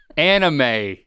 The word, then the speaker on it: anime: So if you short if you shorten that, just take the first two first three syllables of that. That's what this is called. Animated Japanese. First, no. First three syllables of of animation. Anima. Say the long word. Say the long word. Animation. All right. And then just say the first three syllables in the same way. First three syllables. Yeah, you got it right. Not not an enema. But it ends in in a hard a sound.